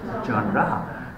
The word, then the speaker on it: genre: It's supposed to be genre, but the pronunciation is genre.